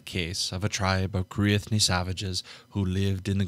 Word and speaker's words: Cruithne: How to pronounce Cruithne? That's exactly what I want. Cruithne.